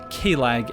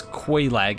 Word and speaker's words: Quelaag: I always interpret Q-U-E as being a K sound because people from Quebec pronounce it Quebec, so that's how I try to do it.